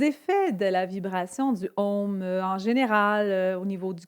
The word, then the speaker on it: Om: Dites-vous que le son home, c'est comme le mot home en anglais.